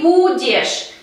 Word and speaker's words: будешь: быть tiene la forma будешь, будешь. Es decir, nos queda la raíz буд y esta raíz буд tenemos que añadir terminación ешь y el acento cae en la letra U. Ты будешь, ты будешь.